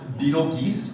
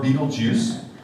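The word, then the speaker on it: Betelgeuse: talk to you now it can be pronounced beetle geese or beetlejuice i will obviously be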